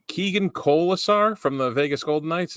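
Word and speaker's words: Keegan Kolesar: right I hope I say his name right Keegan kisar from the Vegas golden kns is that right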